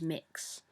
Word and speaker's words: Mx: a lot of non-binary people will use mix but it's spelled MX and that's what I